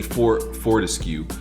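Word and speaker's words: Fortesque: Sir Daniel, or I always pronounce his name, it's definitely Fortescue.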